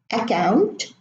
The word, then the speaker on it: account: occurrence soccer accuse now the words in bold these are usually mispronounced by Arab students they would say account a cold upper Paris and this is wrong pronunciation why do they germinate the C prune us the C with force as if there were two seas of course there are in spelling there there are two seas but in pronunciation we only pronounce one because in Arabic we